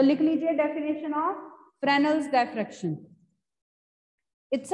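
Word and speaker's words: Fresnel: फ्रेनल्स diffraction, S silent होता है इसमें, फ्रेनल्स डायफ्रेक्शन एंड फ्राउनहोफर डायफ्रेक्शन.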